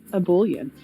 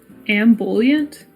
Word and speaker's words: ebullient: Ambulant? Jess, am I pronouncing this right? It's ebullient? Yes, I believe it is ebullient. Ebullient with the emphasis in the middle. Ebullient. Ebullient. Okay, well, streak gone. AMBULIENT.